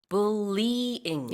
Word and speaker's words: bullying: 참고로 이 bullying의 발음은 bullying이 아니고요. bullying. Yep. 3 syllables가 Yeah. 되겠습니다.